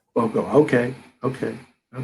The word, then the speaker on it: Forcum: His name is Matt Forcum. Is that correct, Matt? Is that how I pronounce it last name? It's pretty close. Forcum, yeah. Forcum.